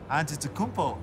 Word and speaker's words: Antetokounmpo: We're the only ones that can pronounce our last name. Antetokounmpo.